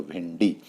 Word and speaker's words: भिंडी: में इसका प्रयोग होगा कंठी और भिंडी तो यहां पर न नहीं आएगा आधा अण यानी ण के रूप में इसका उच्चारण हुआ तो भिंडी ट वर्ग के अंतर्गत ये